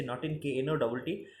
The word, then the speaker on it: knotting: ওকে, next রয়েছে নটিং, KNOTTING, নটিং। উচ্চারণে উচ্চারণটা সাইলেন্ট থাকবে, KNOTTING, নটিং। ওকে, নেক্সট রয়েছে নলেজ, KNOWLEDGE, নলেজ বানান দেখো, LEDGE, এটা তো তোমাদের নলেজেই রয়েছে, নলেজ বানানটা কি।